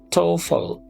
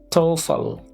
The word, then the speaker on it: TOEFL: We pronounce it like TOEFL. TOEFL.